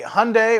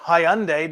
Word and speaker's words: Hyundai: you once again so here we have the Hyundai or Hyundai depending on how you want to pronounce it this again this is a three